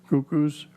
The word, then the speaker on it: Cuckoos: Chairman, with regard to the application by Sunny Boy Inc., DBA Cuckoos, is that how you pronounce it? Yes. Cuckoos, 372 Main Street, Hyannis, to make the following amendments.